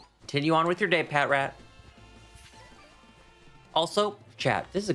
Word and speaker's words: Patrat: Do you pronounce it Pat Rat or Patrat? Because I've been hearing people call it Patrat. Now, I don't think that's necessarily incorrect, but I've always just called it Pat Rat. Maybe I'm just being too literal with the pronunciation.